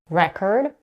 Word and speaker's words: record: When the word is a noun, the stress is on the first syllable. When it's a verb, it's stressed on the second syllable. Here are some examples. Record, record, address, address, object, object, suspect, suspect.